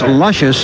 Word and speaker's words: Lucious: Hearst the six horse spell de Lucia's pronounced luscious and she has been